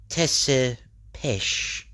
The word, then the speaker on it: Tepes: Yes, but it is pronounced Tesepesh, a very old name.